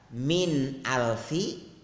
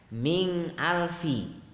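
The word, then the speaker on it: مِنْ أَلْفِ: Kemudian yang mestinya dibaca min alfi, dia membacanya ming alfi. Mestinya nun sukun bertemu hamzah itu izhar, dia membacanya ikhfa. Kemudian satu lagi, yang mestinya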